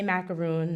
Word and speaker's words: macaron: macaroons by the way I say macaroon not macaron because I'm from New Jersey and I don't speak French so everyone always asks me